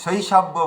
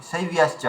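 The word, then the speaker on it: শৈব্যশ্চ: ধৈর্য না রাখলে কি হবে, দেখুন আমাদের সমীরজি মালঞ্চজি কোনো একটা ভুল করছিলেন, যে শৈশব্য বলছিলেন, ওটা শৈবিয়াস চা আছে।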